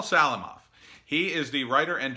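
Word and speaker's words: Salamoff: nice comment from Paul Salman ah yeah I'm pronouncing that wrong Salim ah Salim off Paul Salim off he is the writer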